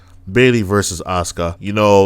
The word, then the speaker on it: Asuka: This is the one I've always been interested in because I am a very big fan of Kana, aka Asuka. The U is silent, and Bayley.